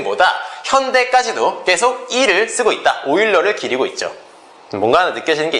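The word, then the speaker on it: Euler: 오일러. 선생님 오일러 스펠 스펠링이 2로 시작하는 거 같지 않는데요?이 어,이 사람 스펠링이 이렇게 돼요.이 사람 스펠링이 에울러 아니에요. 율로 아니고요. 그 오일러입니다.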